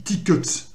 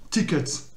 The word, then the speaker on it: tickets: Alors ça, normalement ça se dit tickets. C'est tickets. Tickets. Voilà. Puisque c'est une voyelle qui n'est pas accentuée.